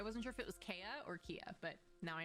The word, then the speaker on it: Keia: we'll see if that happens so it is pronounced kia yeah yeah okay okay i wasn't sure if it was kaya or kia but now i know just like